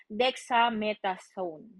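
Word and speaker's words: dexamethasone: Correct me if matama yung o mali yung pronunciation ko. It's dexametasone.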